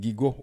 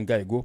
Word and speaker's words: GIGO: Donc ça fait nous penser avec une expression américaine que les gigo ou bien gaigo prononcer le janvier G-I-G-O, ça veut dire premier G veut dire garbage, de I veut dire in, garbage in et puis go garbage out